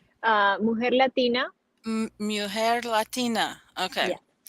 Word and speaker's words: Mujer: pronouncing that correctly? Mujer Latina.